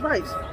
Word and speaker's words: Veitch: So oh shit, is that Veitch? Yeah. So that can't be him. But really. you have to pronounce it Veitch. Veitch, right?